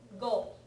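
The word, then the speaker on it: 語: communication sometimes preceded by nion or a Oru goal right this goal means language as a this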